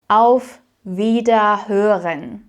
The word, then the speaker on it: Auf Wiederhören: You'll notice that at the end, I also don't actually pronounce every single syllable, so it's not hören, hören. It sounds very unnatural actually saying it like that. So we put these sounds or these letters together here as well. So it becomes Wiederhören, Wiederhören, Auf Wiederhören.